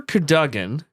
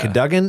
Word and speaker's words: Cadogan: I would say that's Cadigan?